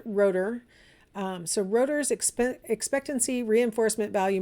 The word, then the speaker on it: Rotter: name at the top it looks like rotters but he pronounces it rotor so rotor's expectancy reinforcement